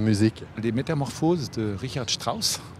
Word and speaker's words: Strauss: des métamorphoses de richard strauss je prononce à l'allemande donc pour orchestre à